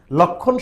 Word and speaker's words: লক্ষ্মণ: ডি ইউনিটে 2025 26 সেশনে একটি প্রশ্ন এসেছিল লক্ষণ শব্দের প্রমিত উচ্চারণ নিচের কোনটি হবে অপশন ছিল চারটা রাইটসার